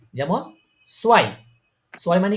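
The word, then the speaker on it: zwei: এই এ এবং ই ই থাকলে উচ্চারণ কি হবে সবসময়? আই আই আই। যেমন সোয়াই, সোয়াই মানে কি?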